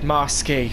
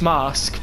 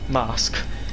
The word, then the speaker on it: Marske: stop is mask um at least I can pronounce that properly now because in one of my practice live streams I accidentally said masy which it isn't it's mask but I didn't know that so I now